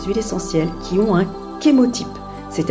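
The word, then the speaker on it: chémotype: essentielles qui ont un kémo type c'est à dire qu'ils vont préciser la race chimique entre parenthèses ça s'écrit ch mais ça se prononce bien qu'émotif alors ceci est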